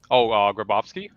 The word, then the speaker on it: Grabowski: How do you pronounce the name correctly? Somebody want to say it? I always mess it up. Grabowski.